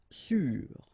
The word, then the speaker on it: sûr: Sûr. Sûr. Okay, even if you get this accent circonflexe, you don't pronounce it, so you get the same pronunciation, sûr and sûr.